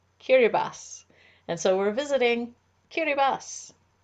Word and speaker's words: Kiribati: talking this is important even though it's spelled k-i-r-i-b-a-t-i it's not pronounced kiribati it's pronounced kiribas and so we're visiting